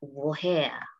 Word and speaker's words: woher: Tapi untuk kata ini dibaca woher.